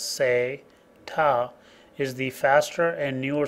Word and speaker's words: SATA: sat which is SATA sa ta pronounced as say ta is the faster and